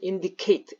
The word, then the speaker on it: indicate: 그래서 indicate, eight라고 발음합니다.